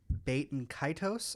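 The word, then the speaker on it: Baten Kaitos: got a release of baiton kitos I think is how it's pronounced said that like HEK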